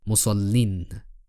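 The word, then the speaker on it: مُصَلٍّ: for defective active participles, which is pronounced as musallin, even in the pausal form.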